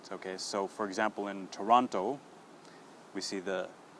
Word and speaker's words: Toronto: the city in Canada Toronto okay so a lot of students will say toront okay and cut that o sound now the difference with